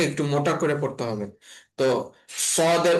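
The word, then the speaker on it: ط: তো তা এর উচ্চারণটা নর্মাল ভাবে উচ্চারণ হবে ত একার তা বা তা জবর তা, কিন্তু ত এর উচ্চারণটা একটু পার্থক্য আছে। ত এর উচ্চারণটা হবে একটু মোটা করে। হ্যাঁ, ত। ত। ত, জিহ্বাটা একটু আহ, আহ, ভারী হয়ে এবং মুখের আওয়াজ একটু ভারী হয়ে উচ্চারণ হবে।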